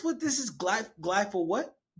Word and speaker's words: Glyphosate: How can you pronounce what this is? Glyphosate. Glyphosate.